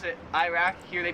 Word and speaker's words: Iraq: Iraq, we pronounce it Iraq.